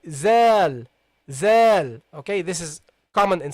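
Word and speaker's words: ذال: Okay, so make sure that you put your tongue between your teeth when you pronounce it. So you say zal, not zal, not val.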